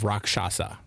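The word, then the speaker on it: Rakshasa: I Is it Rockshasa? Wrath of Rockshasa.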